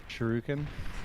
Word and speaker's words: shuriken: Teddy is also building a lot of shurikens. I find it very hard to pronounce this word, to be honest. Shuriken?